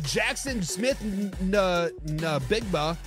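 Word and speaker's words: Jaxon Smith-Njigba: He says Jackson Smith Nabigba, is how you say his name, is that X factor for that team.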